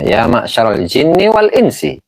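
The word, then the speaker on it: يا معشر الجن والإنس: Ini salah bacanya. Ya ma'syarul jinni wal insi.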